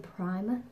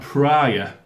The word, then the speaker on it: Pryor: let me say primer she always gets your name wrong juice pryor it sounds like problem i think last time you said pera no because you're wearing